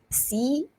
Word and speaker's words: cologne: So I'm going to spell it COLOGNE. COLOGNE. Silent G. And if you're watching this on the screen, you're going to see my IPA transcriptions there.